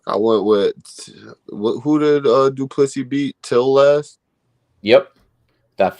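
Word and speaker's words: Du Plessis: It's Duplessis, the S is silent. Duplessis.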